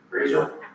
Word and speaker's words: Raisor: Razor? RAISOR. Okay. I understood. It is pronounced like the razor, but not.